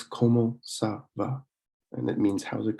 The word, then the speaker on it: ça va: But that just basically means that the C is pronounced with a S. So it's pronounced like an S instead of a C, like a K. So it's como ça va, and it means how's